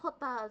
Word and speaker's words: jota: So like you can't just say Soro Jota Zephyr because although Jota is how you say J in Spanish, it just doesn't roll off the tongue.